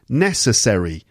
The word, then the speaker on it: necessary: stuck with me anyway necessary necessary okay first syllable necessary okay and the next